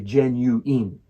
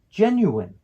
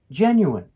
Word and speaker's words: genuine: first syllable gen is pronounced with a soft G sound like the J sound in genes the second syllable it